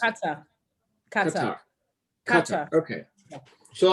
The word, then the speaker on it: Qatar: Qatar. Okay. Yeah. So like cutter, like we're cutting something.